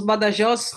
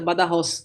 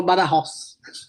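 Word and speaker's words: Badajoz: aqui ch badajos né nós falamos B Joss portugueses brasileiros mas a pronúncia É essa mesmo bem correta bada Ross porque o J deles aqui tem som de R então eles falam bada Ross tá perfeito muito obrigada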